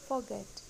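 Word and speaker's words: forget: Next is फॉरगेट, बट इसमें भी हम गलत बोलते हैं, इसमें हमको आर साइलेंट करना है, इसको हम बोलेंगे फॉरगेट। सही प्रोनाउंसिएशन है फॉरगेट।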